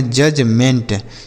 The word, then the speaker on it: judgement: जजमेंट नहीं, यहाँ पर हमने बताया ना पीछे कि अगर डी के साथ जी लिखा होता है तो डी साइलेंट होता है, तो इसे पढ़ेंगे जजमेंट।